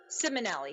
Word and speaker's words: Simonelli: I have Simonelli. Am I pronouncing that right? And Jason Nappi here following up. Simonelli, yes. I always say it wrong.